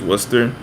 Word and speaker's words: Worcester: I know Worcester, that's like spelled like Worcestershire, but it's Worcester.